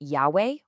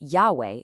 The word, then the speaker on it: Yahweh: Today, most scholars agree that Yahweh is probably much closer to how the name was originally pronounced.